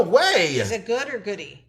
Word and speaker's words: Goody: Is it good or goody?